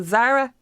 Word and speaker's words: Zaragoza: So think of the shop, the clothes shop Zara. Yeah. So Zaragoza. Goza. That's it, exactly.